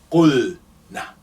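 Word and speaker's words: قلن: And now, because here, when we remove the alif is representing waw here. So we say, okay, let's compensate and represent that waw, which has been deleted, using dhamma on the first root letter. It becomes qulna.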